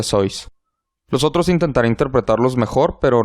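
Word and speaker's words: Seuss: y no deberías regocijarse si lo estás llamando sus él lo pronuncia sois nosotros intentaré interpretarlos mejor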